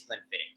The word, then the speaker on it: Glenfiddich: scott's gaelic so i i know it will towards anyone who mispronounces it but you got it absolutely correct it is clean fitting so i can get